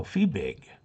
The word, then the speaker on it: Fiebig: No, Fiebig. Let's see, German F-I-E would be pronounced E.